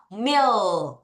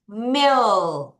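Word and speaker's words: meal: 여러분,이 A가 E 발음 길게 나는 거 아시죠? 같이 읽어 볼게요. 밀 다시 밀 다시 밀 하면 식사나 끼니입니다.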